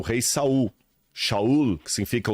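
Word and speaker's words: שאול: primeiro rei de Israel foi o Rei Saul shaul que significa o desejado né aquele que foi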